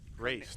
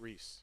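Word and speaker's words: Reyce: hitting for hayden winter race not reese it's not it's not reese but it's spelled r-e-y-c-e i love that name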